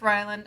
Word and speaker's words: Ryland: named rayland or or ryland how did they pronounce ryland it's ryland i didn't like the name but if your